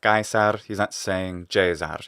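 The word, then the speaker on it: Caesar: pronunciation of latin so he's saying for example kaisar which would be typical this actor is italian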